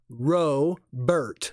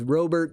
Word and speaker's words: Robert: robear it is Luis ro Bert it's ro is unlike row row row your boat so it's Robert and even if you were watching stuff on YouTube it is roburt that is how he pronounces his name so there guys is